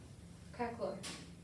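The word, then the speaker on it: craquelure: Am I pronouncing that correctly? Yes. Crackleur.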